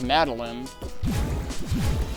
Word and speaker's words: Madeline: how to pronounce that I hear too many people use line but like I pronounce Madeline with a short eye because like that's the way I've known people with that name to pronounce it but I get the impression either one can be acceptable thank you foreign